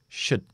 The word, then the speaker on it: should: es nuestra sh sh sh u corta sh sh sh ya tienes los labios fuera así que no tienes que hacer u sh should should should esta d Aquí está